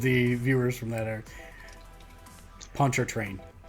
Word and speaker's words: Pontchartrain: I spell it. We've lost all of the viewers from that area. Pontchartrain. It's Pontchartrain.